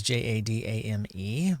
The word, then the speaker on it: Jadame: It's J A D- A M E, but it could be Jadeame. It could be uh might be maybe some other pronunciation that I'm not really good at, but I'm going to call it Jadame for now.